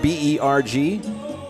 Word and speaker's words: Berg: So in the German language, Berg, B-E-R-G, or Berg, if they'd say it properly, means hill or mountain.